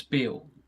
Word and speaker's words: Bew: You'll see it as built like that, and it's actually pronounced as Bill.